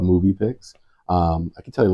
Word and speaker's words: muVpix: Movie Pix. It's spelled a little funny, we'll all admit that, but it's MUVPIX. Just a movie, so it's the same pronounced as movie.